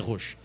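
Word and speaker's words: Roche: insulina ela se chama rochi ela é de são paulo cada um produziu de um jeito rocha roxo mas a pronúncia certa e roxo de são paulo ela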